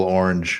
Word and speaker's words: Orange: Jersey orange yes or you pronounce it it's one syllable orange orange yeah orange well